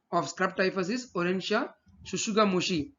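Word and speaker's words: tsutsugamushi: The causative agent of scrub typhus is Orencia shushugamushi. T is silent over here, which was discovered in Japan.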